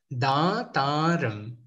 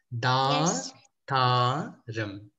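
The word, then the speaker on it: దాతారం: So you say Aapadhaama Paharthaaram Dhaathaaram Sarva Sampadhaam. Can you see how I'm dragging the sound where the double A is, right? Dhaathaaram.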